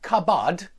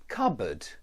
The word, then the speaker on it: cupboard: it's not the same it sounds similar to the a in but or cboard but I hope you can hear that it's not cabad it's cabbo cupboard it's not cabad